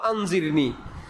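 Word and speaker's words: أنظرني: আমাকে একটু সুযোগ দেন উচ্চারণ হল আনজিরনি আর আমাকে আমার দিকে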